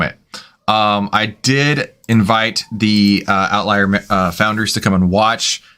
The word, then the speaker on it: OVTLYR: So part of what we have been doing is working with a company called Outlier, and that is spelled OVTLYR.